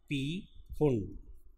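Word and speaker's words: Pfund: वो अपने पास है पी फुंड, या पी अगर साइलेंट मानते हैं तो फुंड सीरीज।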